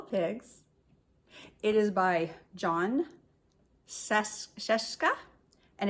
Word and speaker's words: Scieszka: it is by John Seska and it's illustrated by Lane Smith John Cheska rhymes with fresca I looked it up